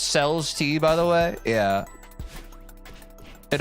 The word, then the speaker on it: Celeste: It's pronounced CELESTE, by the way.